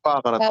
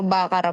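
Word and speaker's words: baccarat: siya tataasan kayo ganon bacarat yun tapos nung una rin bacarat eh ang Kala ko pero bakara pala yun ung pronunciation may accent no h Ano silent bakara kaartehan nio lang yan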